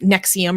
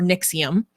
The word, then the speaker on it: NXIVM: um which you know looks like a bunch of roman numerals but it's pronounced nexium or nixium um which i have